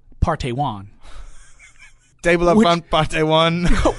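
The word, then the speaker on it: Park Tae-hwan: It's Park, P-A-R-K. Right. T-A-E-H-W-A-N. It is pronounced Partey Wan.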